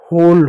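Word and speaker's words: hole: ओ को जो है हम हमेशा ओ को पढ़ेंगे। ई साइलेंट होगा।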